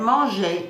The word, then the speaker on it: manger: But manger carries a soft G like the J in je.